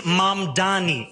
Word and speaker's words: Mamdani: And furthermore, the name is Mamdani. M-A-M-D-A-N-I. You should learn how to say it because we got to get it right.